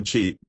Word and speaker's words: qi: its practice she the chief pronounced as chi is a difficult word